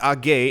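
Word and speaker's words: AG: operated by bx swiss a gay and if you wonder why i keep saying a gay for the letters a g is because in german it's pronounced and therefore every time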